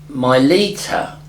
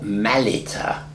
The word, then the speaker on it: Malita: Now, Milita, or Malita, as it should be pronounced, was not a name, but an Akkadian word.